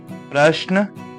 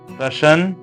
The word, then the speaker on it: प्रश्न: इसके बाद अगला है प्रश्न, प्रशन, प्राशन। तो इसमें जो सही उत्तर होगा वो है प्रश्न।